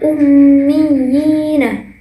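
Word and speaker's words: الأميين: terdapat pada kata fil ummiyina. Nah, di sini terdapat huruf ya yang bertahjid yang bertemu dengan huruf ya mati. Fil ummiyina. Nah, jadi membacanya juga harus dibaca sebanyak 2 harokat ataupun 1 alif.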